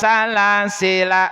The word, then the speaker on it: سَلَاسِلَا: Baik, sekali lagi kita baca lafaz salas sila. Silakan. Jika dibaca wasal, jika dibaca wasal, lnya dibaca pendek. Jika terpaksa wakaf, jika terpaksa wakaf, lnya boleh dibaca sukun.